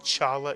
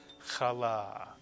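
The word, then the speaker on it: challah: CH is the sound it's not Chala it's kala and here's a word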